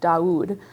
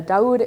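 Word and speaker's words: Daoud: And that's going to start with this name, which is Doud. Uh, Daud is an Arabic name. Um, and it is spelled D A O U D.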